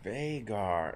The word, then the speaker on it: Vhagar: I like that the way his name is spelled. A-L-Y-N. Vhagar? It's Vhagar.